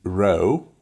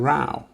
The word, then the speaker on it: row: told you before and there are some words spelled the same but pronounced differently sometimes o sometimes ow you can see the o w letter combination all the time but we say o as in row and sometimes we say ow as in rao row what is he